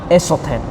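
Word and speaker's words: ἔσωθεν: Ini cara bacanya esoten.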